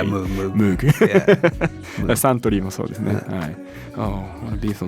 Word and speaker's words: Moog: How about Moog or Moog? Oh, that's a good question. I say Moog. Okay, I say Moog too. You too? I think Moog is correct, but I prefer What? Moog. That's what they say.